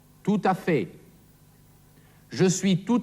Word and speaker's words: tout à fait: Da hier ein Vokal auf das T vom Wort tout folgt, wird dieses T ausgesprochen. Tout à fait.